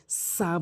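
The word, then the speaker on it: ث: এখানে অধিকাংশ লোক যে ভুলটি করে সেটি হচ্ছে সা বলে। এটি ভুল উচ্চারণ। সঠিক উচ্চারণ হচ্ছে সা অর্থাৎ জিহ্বার আগা এবং সামনে দুটি দাঁতের আগা।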